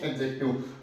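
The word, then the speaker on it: adjective: इसकी correct pronunciation होती है एडजेक्टिव। क्या होगी? एडजेक्टिव। यानी ए और जे के बीच में डी की साउंड जो होती है उसको हम प्रोनाउंसिएट नहीं करेंगे, एडजेक्टिव।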